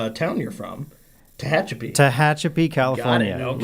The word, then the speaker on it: Tehachapi: I can pronounce the name town you're from. Tehachapi.